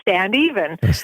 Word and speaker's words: Standeven: I hadn't realized that my last name stand even and that's actually how you pronounce it is stand even and um my husband